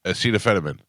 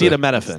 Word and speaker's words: acetaminophen: It's spelled ACETA. Acetaminophen. Acetaminophen. Acetaminophen. Acetaminophen. Yes. What did I say? Acetaminophen. That's Acetaminophen.